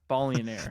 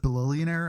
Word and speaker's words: Ballionaire: Ballionaire. The first time I heard someone pronounce it bullionire, I was like, wait, what? That's what I That's what I keep saying. So it's Bionire.